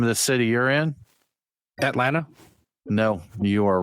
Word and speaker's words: Atlanta: It doesn't have a second It doesn't have a second T in it. That's I I swallow that though. Usually I There I didn't say the second T.